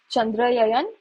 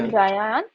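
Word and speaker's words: Chandrayaan: Then I remember the last question this was India is launching Chandra Yayan. How do you pronounce it? Chandra Chandraan three and we are supposed to design basically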